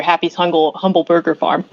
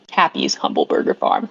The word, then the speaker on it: Happy's Humble Burger Farm: like another horror game we reviewed last year happy humble Burger Farm uh Happy's humble Burger Farm that's how it's pronounced Brooke but you've got very much of